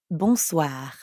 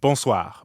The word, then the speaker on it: bonsoir: need to say bonsoir we already know how to pronounce the first part boom because it's the same in bonjour and the second part is that means evening the n sound is kind of like saying ah at the dentist ah but swah